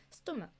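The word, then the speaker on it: stomach: 그래서 스토크 얘네 크크 소리가 나잖아요. 그러면 이런이 알파벳은 이건데 소리가 이렇지가 않다 보니까 아 스토리이 경우에는 그냥 평소처럼 일반적인 경우처럼 s를 붙이는구나.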